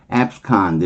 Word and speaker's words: abscond: abscond 이렇게 발음해요.